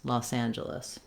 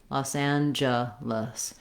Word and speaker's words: Los Angeles: like job or just and then our letters e both e's say the schwa sound they sound like ah in this word los angeles very on very reduced